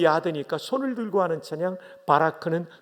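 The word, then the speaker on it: בָּרַךְ: 바라크. 발음이 거의 신대원 수준입니다.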